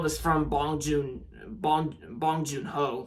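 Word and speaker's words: Bong Joon-ho: out I saw was from bong Jun bong bong Jun ho like yeah you know that's how you say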